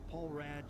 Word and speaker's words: Paul Rad: Paul Rad, Chief Technical Officer for the Oh, that is how you pronounce it too.